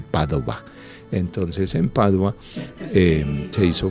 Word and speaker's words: Padova: famoso allí en Padua, que en italiano se dice Padova.